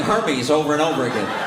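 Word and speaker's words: Hermès: It's pronounced Hermes.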